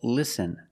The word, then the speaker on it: listen: Example, listen and fasten. You see s Ten. With this spelling pattern, you can see the T is silent. Listen. We don't say listen. It's listen and fasten.